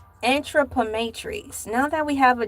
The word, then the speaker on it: anthropometry: This is how you phonetically break it down. Anthropometry.